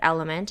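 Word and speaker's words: LMNT: all the time about my favorite brand element it's spelled l m NT and I stumbled across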